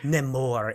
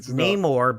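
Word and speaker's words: Namor: that you know and his name isn't nemour it's Neymar because it's a Roman backwards and that's how it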